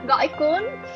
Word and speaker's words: Gỏi cuốn: I don't know how to pronounce this, but it's called like goi quan. Yes. Gỏi cuốn.